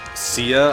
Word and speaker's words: Cia: rise to Glory uh CIA I believe is how you pronounce her name called her Kia for a bit uh but nobody